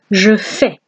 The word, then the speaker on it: je fais: Je fais. Okay, we don't pronounce the S, we say je fais.